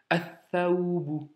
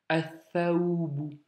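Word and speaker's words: الثوب: Donc trois consonnes, le lam il saute. Donc athaoubu, athaoubu.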